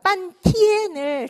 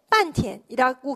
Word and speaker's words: 半天: 费了半天力 한참 동안에 반티엔을 티엔 일성으로 발음을 하게 되면 반나절이란 뜻인데 반티엔이라고 경성으로 말하면 한참 동안 힘을 썼는데 고생을 했는데 周住的不过三四只라고 했어요.